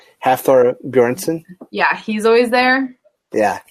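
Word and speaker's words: Hafþór Björnsson: Hafthor Bjornsson.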